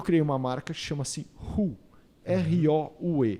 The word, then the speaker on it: Roue: Então fala Roue. Se fala Roue. Tem R-O-U-E, mas você fala o R e o U.